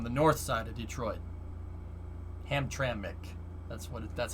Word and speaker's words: Hamtramck: which is on the north side of detroit hamtramck that's what that's how you say it's polish